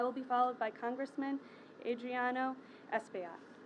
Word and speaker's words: Adriano Espaillat: I will be followed by Congressman Adriano Espaillat. Pronounced that right.